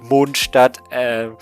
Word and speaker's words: Mondstadt: And so I always think that if they would return to Mondstadt, yeah, it's called Mondstadt with German pronunciation, she would actually take like a rest for some time.